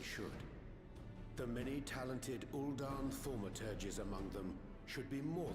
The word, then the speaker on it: thaumaturges: The many talented Uldan thaumaturges among them should be more than capable of closing any fissures they encounter. So that's how you pronounce that, thaumaturges.